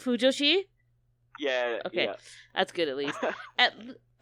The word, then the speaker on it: fujoshi: Did I pronounce it right? Fujoshi?